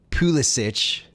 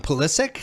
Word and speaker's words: Pulisic: You have very hot opinions on Pulisic.